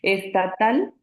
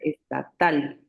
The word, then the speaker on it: estatal: porque la última sílaba es la que suena más fuerte, es la sílaba tónica, estatal, ¿no? Si fuera grave diríamos estatal. Ujú.